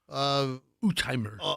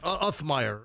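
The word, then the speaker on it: Uthmeier: Yeah, the Florida Attorney General, Utheimer. Utheimer. Oh, am I saying it wrong? Yeah, Uthmeyer. It's not Utheimer? No, it's It's the Attorney General of Florida is James Uthmeyer.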